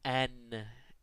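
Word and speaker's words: н: But in fact, it's the letter N, as in the English word note.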